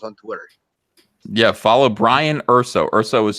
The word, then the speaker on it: Urso: Yeah, follow Brian Urso. Urso is spelled URSO.